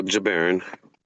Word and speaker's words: Jabarin: And pronounce it again, please. Your last name. Oh, Jabaron.